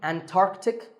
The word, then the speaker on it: Antarctic: The C in the middle is not silent. Similarly, Antarctic and Antarctica.